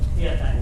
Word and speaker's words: Tiyatien: He's also the director and founder of an organization called, please bear with me, Tiyatien. Did I pronounce it? Tiyatien. Tiyatien, yep, that's right.